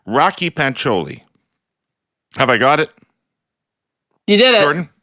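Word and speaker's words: Rakhi Pancholi: the Alberta NDP leadership candidate's name is properly pronounced Rocky pancholi have I got it you did it Jordan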